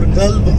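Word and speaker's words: قلب: But when you mispronounce it, if you say Qalb, that means you are in trouble. Okay? Qalb means a dog in Arabic.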